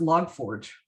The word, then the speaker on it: log4j: what i read somewhere it's pronounced log forge uh no uh i